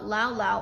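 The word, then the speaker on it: lao-lao: tipple no local brew is called lao lao or alcohol plus laos and this is on the second syllable it is a ubiquitous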